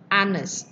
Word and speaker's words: honest: Nah, ini bacanya bukan H, pakai H depannya, bukan honest, tapi bacanya kan A, honest. Walaupun hurufnya huruf mati, tapi bacanya huruf hidup, ya kan, bacanya jadi vowel, makanya bukan tapi di sininya harusnya en.